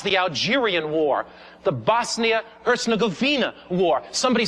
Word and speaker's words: Herzegovina: ask your yugoslavian friends it's pronounced hertz like the rental car govina thank you very much